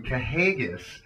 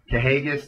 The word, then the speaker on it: Kahagas: there you have it correct it on the pronunciation kahagis uh well I I wasn't the only one pronouncing it that way but uh kahagis the NWA world champion